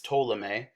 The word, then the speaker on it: Ptolemy: to be so claudius ptolemy that p is silent it's ptolemy is an egyptian-born greek